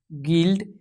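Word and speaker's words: guild: जैसे यहाँ पे गॉड, गैस, गेस्ट, गिल्ड। तो इन जगह पे जो है यू आपका साइलेंट रहेगा।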